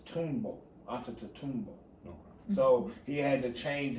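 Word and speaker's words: Antetokounmpo: know my african people anta both it's tombow onto toomba so he had to change it for vernacular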